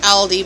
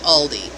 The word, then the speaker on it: Aldi: changes in pronunciation but they're German companies German Brands so they're like um